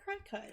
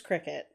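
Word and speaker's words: Cricut: give you a sticker but it looks like crackhead it's Cricket it makes it makes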